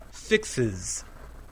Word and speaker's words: Fixes: Fix also ends with the sound S. Remember, we're talking about sounds, not spellings. So we add is. Fixes.